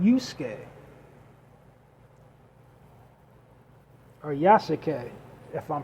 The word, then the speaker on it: Yasuke: And the samurai, the characters, was based on a black samurai in the feudal Japan called Yusuke, or Yasuke, if I'm pronouncing it right, Yasuke.